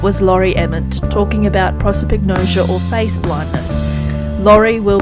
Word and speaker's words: prosopagnosia: So this journey, have you connected locally with anyone else who has prosopagnosia? Is that right? Prosopagnosia, yeah. I just say it really quick. so you don't have to necessarily pronounce it right.